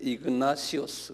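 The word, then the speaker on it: Ignatius: 이그나티오스인데 이그나시오스 그래요.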